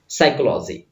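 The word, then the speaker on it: psychology: has blank books on साइकोलॉजी okay यहां पर P silent होता रीड करने के लिए तो ये एस से स्टार्ट होगा पढ़ने के लिए तो साइकोलॉजी ठीक है ना यहां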